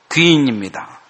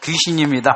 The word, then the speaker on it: 귀인: 귀인입니다. 발음을 잘해야 됩니다. 귀신입니다 하면 안 돼요.